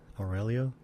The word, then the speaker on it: Aurelio: Aurelio.